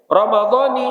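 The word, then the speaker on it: رمضانِ: Dengan mengidopatkan lafaz Ramadan kepada kalimat hadhihi, panunuhu maksuratun, maka nunnya berbaris kasroh. Ni bacanya ni. Nah ini banyak orang menyalahkan orang baca pakai ni, jangan belajar nahwu.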